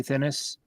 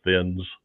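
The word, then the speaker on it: Thinnes: It's Thinnis. He says Thinnis interview. And we talked about his name, and we all thought it was Thinnis. And I looked it up on some pronunciation guide, and it said Thins. And I appreciate Andy for correcting that because we can all go back to the way we always said it.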